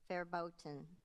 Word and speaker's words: verboten: a t i o u s ostentatious correct verboten any other pronunciations verboten verboten ferboten verboten v e r b o t e